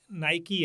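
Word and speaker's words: Nike: जैसे पहले वो था ना कि नायकी है तो उसको नायक पढ़ते थे। एडिडास को नहीं नायके जो अब नायकी हमें पता है।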